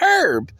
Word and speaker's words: herb: Ladies and gentlemen, if it's silent in herb, why can't it be silent in herb? Herbie. You don't silent the H in Herbie. Yes, but the herb, Herb, the H is silent.